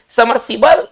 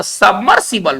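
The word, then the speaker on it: submersible: समरसीबल इन दोनों तरीकों से नहीं लिखा जा सकता है, समरसीबल नहीं होता है, वह सबमर्सिबल होता है, थोड़ा ध्यान दिया जाए।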